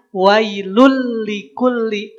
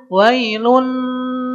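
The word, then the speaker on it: ويل لكل: Maka bacanya wailul likulli. Kalau pakai gunah jadinya wailun.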